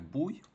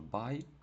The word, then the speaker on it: buy: Ее чому не читається як буй? Тому що ви вже знаєте, що оця буква, якщо стоїть між двома, то вона читається скоріше як а, а не як у. Тобто скоріше не буй, а скоріше бай, тому що оця у стоїть між двома і вона читається як а. Ну, наближено до а.